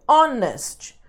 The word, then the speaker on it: honest: que eu tô falando esse H aqui ele é mudo então é honest primeiro som aqui é o som do o então é som de vogal a gente usa an